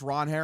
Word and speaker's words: Ranger: Spelled Ranger, pronounced Ron Her. It makes It makes plenty of sense when you think about that his name was meant is a Spanish name and was probably pronounced That's probably just how it's pronounced in Spanish.